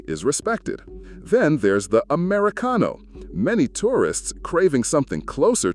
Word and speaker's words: Americano: The pronunciation is Americano.